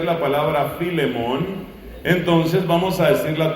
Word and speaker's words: Filemón: a como algunos no saben pronunciar la palabra filemón entonces vamos a decirle a todos carta de san pablo a la carta de san pablo a filemón es una página tú la puedes buscar la